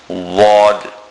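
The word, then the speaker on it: ضاد: The makhraj, or the place from where the letter Dad is pronounced, is when the back edge of the tongue, upturned, touches the roots of the molars and the premolars.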